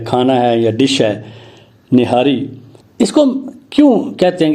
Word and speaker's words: نہاری: معلوم ہوتا ہے، اور وہ کہتے ہیں کہ ٹھیک تلفظ جو ہے وہ ہے نہار اور نہاری، لیکن ہمارے ہاں اب یہ غلط العام یا غلط العوام ہو گیا ہے، نہاری۔ چلیں، نہاری ہو